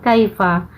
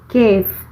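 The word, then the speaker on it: كيف: pengucapannya aja yang beda kayak kalau secara tertulisnya Kaifa kalau secara Abby amiyahnya itu Hai disebutnya itu cave Cave Hai nah artinya Bagaimana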